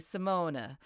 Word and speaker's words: Simone: take a look at in some languages like Dutch and German when we have a name that ends with e pronunciation is actually Simona or Diana or Sabina just forgive me I'm gonna be using the English pronunciation of her name it's a little bit easier Simone is a wonderful